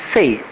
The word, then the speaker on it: sei: In Italian, it becomes quattro, sanke and sei, it's sei, it's not C here, it's sei. In Spanish, it's a quattro, with C, starting with C, cinco and seis with an S ending.